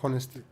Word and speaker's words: honesty: Honesty or honesty? Honesty. Honesty, Like honnête in French.